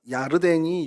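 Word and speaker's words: ירדן: 요단은 히브리어로 네하르 야르덴이라고 발음이 좀 어려운데요. 그러니까 야르덴이 요단입니다.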